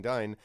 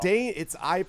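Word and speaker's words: Dáin: Dane. I'm sorry. The BBC version tells me Dane.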